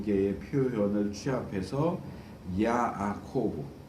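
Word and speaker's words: יעקב: 두 개의 표현을 취합해서 야아코브, 이제 우리는 야곱 이렇게 그냥 하지만 히브리 표현으로 하면 발음으로 하면 야아코브입니다.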